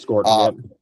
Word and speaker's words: Scourton: It is Scourton, for their recoveries, and hopefully they can be good to go for 2027.